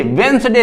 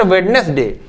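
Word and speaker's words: Wednesday: The pronunciation अपना सही करो, ये संडे है, Monday, ट्यूसडे, वेंसडे, नॉट वेडनेसडे, वेंसडे, Thursday, Friday and Saturday.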